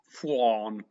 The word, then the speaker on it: Fionn: Don't forget to pronounce Fionn properly again. How do you say Fionn? Fionn Hayes. Fionn.